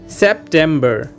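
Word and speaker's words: September: इसके बाद में है सितंबर, सितंबर को दोस्तों हम पढ़ेंगे सेप्टेम्बर। इसकी स्पेलिंग देखिए दोस्तों, एस ई पी यानी के सेप, टी ई एम यानी के टेम, बी ई आर यानी के बर, सेप्टेम्बर।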